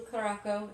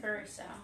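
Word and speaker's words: curaçao: A tasty mix of rum, blue caraco, and pineapple juice. Cheers to the Blue Lady. I think it's pronounced curacao. Curacao it is. I'm sorry. I don't know why I said caraco.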